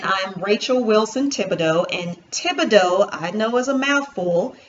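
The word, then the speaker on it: Thibodeaux: Again, I'm Rachel Wilson Thibodeau, and Thibodeau, I know, is a mouthful. It is spelled.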